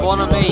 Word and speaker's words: Bonhomie: Bonhomie, the H is silent.